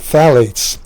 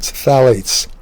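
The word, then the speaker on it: phthalates: Another uh common uh obesogen is called phalates. It's spelled ph a l a t e. The p is silent. phalates.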